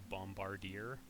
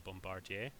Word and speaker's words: bombardier: we say those more words that end in IE R rhyme with Y so like we don't call it a bombarder call it a bombardier this little fun language